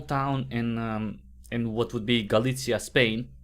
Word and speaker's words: Galicia: in what would be Galicia, Spain. I guess how it's pronounced, Galicia. I think it's Galicia. I don't think you say the C.